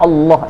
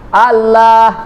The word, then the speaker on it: Allah: Padahal kan itu alif, lam, ha. Harusnya bacanya Allah dong. Allah. Kan begitu harusnya bacanya. Enggak, kita baca apa? Allah. Satu-satunya kata di dalam bahasa Arab antara tulisan dengan bacaan berbeda, itulah kata Allah.